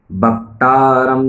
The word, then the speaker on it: अवक्तरम्: अवक्तरम्, जैसे आप कहते हैं 'भक्त', वैसे ही अवक्तरम्, अव श्रोतरम्, अव दातारम्।